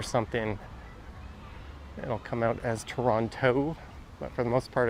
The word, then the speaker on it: Toronto: Welcome to Toronto. Yes, the T is silent. I'll find in everyday conversational speech, I'll drop the second T. Sometimes if I'm like reading it or something, it'll come out as Toronto, but for the most part it's Toronto.